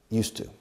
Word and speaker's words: used to: If you don't, it's just used to. Okay. Used to. And the pronunciation is like el monasterio de Juste. cambiando la E al final con U, used to.